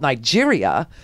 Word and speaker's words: Niger: I guess you call them Nigerians, because even though there is a country called Nigeria, and this is Niger, and it's pronounced that way because it's a French colony.